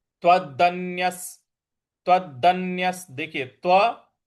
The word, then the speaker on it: त्वदन्यः: और य के बाद जो विसर्ग है उसके आगे स है, तो इन दोनों को आपस में जोड़ देंगे। तो जो स है उसी का उच्चारण हमको यहाँ पे विसर्ग का देना है। तो त्वदन्यस। त्वदन्यस इस प्रकार से इसका उच्चारण होगा।